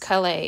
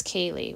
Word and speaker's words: Kaylee: Now my device knows that when her name is spelled this way, it's not pronounced Calais, it's Kaylee.